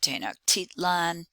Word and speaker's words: Tenochtitlan: is given at the top and you can pronounce it tenochtitlan the people the aztec in that city uh